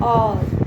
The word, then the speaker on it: hour: जैसे कि आपको एग्जांपल बताऊं, HOUR क्या बन जाता है? ये और, ठीक है, ये और से शुरू होता है, और से, एच इसमें साइलेंट होता है, तो यहाँ पर एन का यूज़ करेंगे।